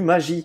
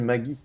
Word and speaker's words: magie: mes grands-parents disent du magie et pas du Maggie. Attention, voilà. Les amis. Magie, il y a qu'un seul G. C'est pour ça qu'on dit G. Ouais. Pourquoi on mettrait 2 G si on prononce de la même manière?